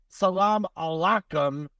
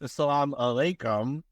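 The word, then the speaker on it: السلام عليكم: like they can say now he's GNA say Salam Alum and then you're gonna say w Salam no it's Salam alayum and alayum Salam yeah I I I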